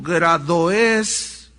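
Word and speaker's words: γραώδεις: Aquí esta frase de viejas viene del griego gradoes, esa es la pronunciación más correcta, gradoes, que significa efectivamente mujer vieja, pero también tiene otros significados.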